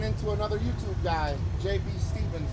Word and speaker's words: Stephens: another YouTube guy, JB Stevens, right? Yep. He pronounced it right. A lot of people are saying Steffens, but So where are you from?